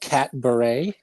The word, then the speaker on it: Catbaret: It's called Catberet. Am I Yeah. saying that right? How did you develop that? You are saying it right. Yes. So the Catberet is a cat-themed variety show, so a pun on cabaret.